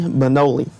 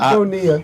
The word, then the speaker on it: Bonilla: Bobby Bonoli, or is that, I can't remember how you say it. Bonilla.